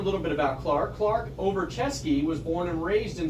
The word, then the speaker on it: Ovruchesky: your last name clark it's uh it's russian it's over chess case over chesky so clark over chesky